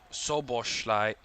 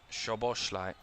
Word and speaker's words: Szoboszlai: I think it's Soboslai rather than Szoboszlai. Yeah, Soboslai.